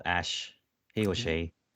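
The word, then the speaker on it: Æ: letter X and then the AE is like pronounced ash and then a 12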